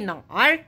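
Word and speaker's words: 哪儿: Nah, tulisannya pakai nar. Kita bacanya nar. Ini sebenarnya perbedaan dialek saja. Ini sering digunakan di Beijing Utara, nar.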